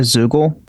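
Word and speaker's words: Zeugl: A Zoogle?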